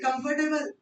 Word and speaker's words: comfortable: R pronounce होगा या नहीं होगा? नहीं. Obviously. R pronounce नहीं होगा. It's never comfortable. It's comfortable. यहाँ सारा स्ट्रेस किस पे है? ये टेबल नहीं आना चाहिए बस. ए को स्ट्रेच नहीं करना ज़्यादा. It's comfortable.